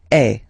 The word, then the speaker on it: es: And for tu, then you've got this combination of letters, okay, but then basically the sound you will pronounce or you will produce is est, okay.